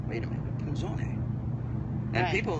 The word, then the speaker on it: Punzoné: Most people do. They'll say Punzoné.